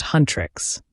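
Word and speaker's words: Huntr/x: The story follows a K-pop girl group called Hunter/X, pronounced Huntress, who are also demon hunters, responsible for protecting humanity from supernatural threats with their combat skills and empowering pop.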